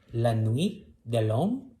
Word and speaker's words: La Nuit de L'Homme: for this episode we are gonna talk about la nuit de long by eve song lauren did i pronounce it right you did okay so and